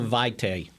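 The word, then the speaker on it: Vaitai: good pronouncing David bakhtiari Snaith would you please pronounce the name of his replacement for Lane Johnson it's hollow vitae I shortened his first that's that's what the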